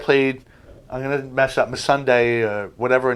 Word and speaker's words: Missandei: I always called her Missandei, but they always said it like put a Sunday next to her, so I guess it's Missandei is the way you pronounce it.